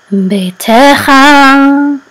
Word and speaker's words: ביתך: in a prominent place, beitecha. Your house. Okay. And this is etnachta, so the accent is on te. And etnachta says etnachta. So this is beitecha.